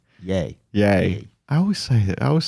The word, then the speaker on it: Ye: Yee. Yay. Yay. I always say it wrong. I think it's yay because it's Kanye. Kanye, yay.